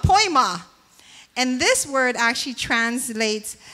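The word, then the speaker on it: poiema: And I think it's funny because it's pronounced poi ma. Like poi ma. I need poi. It's called poi ma.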